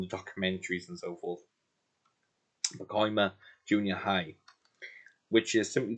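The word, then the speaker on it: Pacoima: I've only just recently learned to say that correctly and pronounce it because I've been hearing it on the documentaries and so forth. POMA Junior High, which is simply titled Richie Valens in Concert at POMA Junior High.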